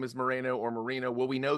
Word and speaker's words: Moreno: Is it Moreno or Moreno? He pronounces it Moreno. It's you could argue that it's spelled Moreno. Yes. I find myself going back and forth, kind of like Cuauhtémoc sort of thing. So it is one of those words. It's like, I feel like even he says it differently. He'll definitely accept either pronunciation.